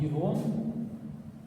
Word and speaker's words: ирон: Ирон, это ударение на И или на О.